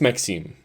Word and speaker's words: Maxime: I think it's Maxime. It's French, so I think it's Maxime, not Maxime or something.